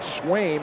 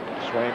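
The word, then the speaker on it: Sveum: And Swaim, S-V-U-E-M, it's 1-1 now, is Norwegian. Pronounced Swaim.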